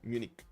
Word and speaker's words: Munich: Like that, Justice, like just a hard K at the end when you want to pronounce it in English. Okay, Munich.